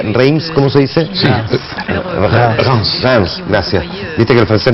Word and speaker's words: Reims: localidad, la localidad de, no sé cómo se pronuncia, Reims, ¿cómo se dice? Sí. Reims, gracias.